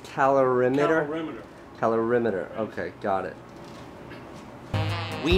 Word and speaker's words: calorimeter: answered all of my stupid questions and it's pronounced calorimeter calorimeter okay got it we needed the resources of the obesity research lab at st.